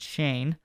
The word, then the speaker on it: Schoen: reportedly is not getting an extension and joe shane gm of the uh new york giants yes that is how you say his name is shane we checked uh but he has said everybody